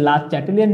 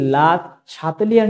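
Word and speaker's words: Le Chatelier: তোমরা যদি লা চ্যাটেলিয়ার নীতি বলো তাও ঠিক আছে, তোমরা যদি লা শাতেলিয়ার নীতি বলো তাও তোমাদের জন্য ঠিক আছে।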